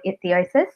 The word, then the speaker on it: ichthyosis: She lives with a rare, severe skin condition called ichthyosis, Have I pronounced that right, Carly?